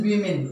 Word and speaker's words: women: And the pronunciation of this word is women. Okay, this one is plural. Generally we pronounce it wrongly, like woman. So this is not woman. Okay, this is only women, and the singular of